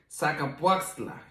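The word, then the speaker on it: Zacapoaxtla: it in english but uh the the correct pronunciation is called saca puasla you know in spanish we have some really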